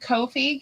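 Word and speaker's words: Ko-fi: Yeah, I pronounce it Kofi because there's like the little coffee cup thing. So, it's like coffee.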